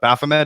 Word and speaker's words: Baphomet: Baphomet. Is that how you pronounce it?